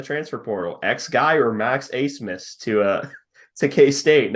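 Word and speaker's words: Abmas: Oral Roberts transfer Max Ace Miss yes that is how you pronounce that name uh it according to Connor earlier it's a German thing and the German letter didn't transfer over okay he's currently on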